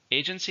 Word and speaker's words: agency: How many syllables? Agency. 3, stresses in the first syllable.